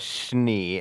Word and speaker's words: Schnee: They pronounce her name in the show as Schnee, and every time I hear that, I only think of 2 things.